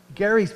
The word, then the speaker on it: Gerry: gerrymandering gets his name from elbridge gary hard g governor of massachusetts in